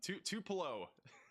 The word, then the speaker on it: Tupelo: So, tell me how to pronounce means to reach all the way down at that speed. Tupo tupulo Tupelo.